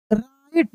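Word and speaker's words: write: Lived there the night wanted to राइट, यहाँ पे W silent है।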